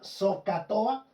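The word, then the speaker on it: SOHCAHTOA: que se pronuncia socatoa.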